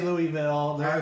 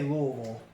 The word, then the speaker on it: Louisville: Well, we say Louisville, they say Louisville. Louisville. That's because they're south and they draw out their vowels, so it's Louisville.